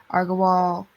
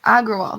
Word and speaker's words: Agrawal: this new ceo um argo wall that's how you say it um aggrowall agrawal that's it um they shared the